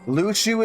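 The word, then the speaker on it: Luxu: In the master's playful and mischievous way, he gave his apprentice Lucu a very important role. Lucu is how you pronounce that.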